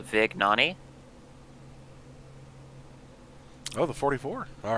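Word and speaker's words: Vignone: Just to correct you here, according to Nicholas, his last name is pronounced Vignani.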